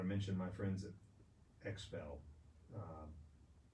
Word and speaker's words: XPEL: mention my friends at expel um expel san antonio e it's spelled x it starts with an x x e l they did my truck